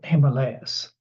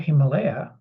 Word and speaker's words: Himalaya: is in Sanskrit and the stress there is on the second syllabus in the west somehow